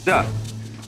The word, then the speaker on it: Te: leoty to be initiated the next word is Du because again there's no apostrophe after the T so it's pronounced du and Jing there is no